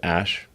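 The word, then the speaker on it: Æ: Just X, the letter X, and then the AE is like pronounced Ash.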